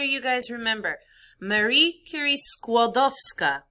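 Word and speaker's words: Skłodowska: guys remember marie curie squadowska squad of scott three syllables skodovska she together with her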